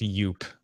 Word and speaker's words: Jupe: TV Roger favorite's gonna hit Strong by the way Jupe is pronounced yup I should have corrected